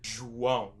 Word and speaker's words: João: You're going to say João.